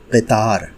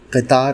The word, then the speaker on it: قطار: ہے۔ اصل تلفظ ہے قطار۔ قطار صحیح تلفظ ہے۔ یہ عربی سے آیا ہوا لفظ ہے۔ آپ جانتے ہیں اردو